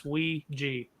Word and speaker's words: Ouija: look up on Google that is the correct pronunciation it's wi G so uh pardon my